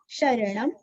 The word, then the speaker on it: शरणं: पहले क को कर कर कश कश कर कश रण कर्कश राम राम, श्री राम राम शरणम, ण के ऊपर अनुस्वर का उच्चारण आधा म, शरणम भव राम राम, श्री